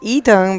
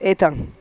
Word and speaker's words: Ethan: We were calling him Ethan, but in French it's Ethan.